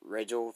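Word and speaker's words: Riegel: i can't deny that and sam uh rachel rachel that's how you say his name yeah i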